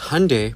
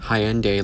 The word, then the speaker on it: Hyundai: Because Hyundai, pronounced like Sunday, not Hyende like you're saying, is a Korean company.